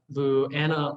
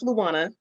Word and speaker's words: Luana: Okay, so actually, my name is pronounced Luana. Everyone makes that mistake. Apologies. No worries, no worries. It's a thing. I have a Hawaiian first name and I live in the Midwest, so shenanigans will happen.